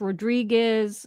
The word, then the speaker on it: Rodriguez: But Well, the popular last names, Hernandez, Rodriguez, it's all with a Z. But in Spanish, it's pronounced like an S.